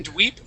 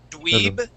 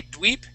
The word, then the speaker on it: dweeb: studious and it and it actually should be dweeb but H it should be dweeb with a B at the end but it could be different in other parts of of the US someone they may say dweep okay others may say